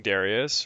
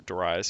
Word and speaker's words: Darius: So King Darius, or Darius, if you want to pronounce it like that, said, oh, well, I can't let this go, you know, undone.